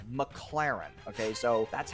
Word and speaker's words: McLaren: times in a row it's not McLaren it's McLaren okay so that's how